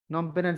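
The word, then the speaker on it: Phnom Penh: নমপেনের ঝামেলাটা কি? তাহলে মাঝখানে হচ্ছে বানানটা ANOM, নম, PEN পেন, এই হলো নম পেন। শুরুতে একটা পিএইচ, শেষে একটা অতিরিক্ত এইচ।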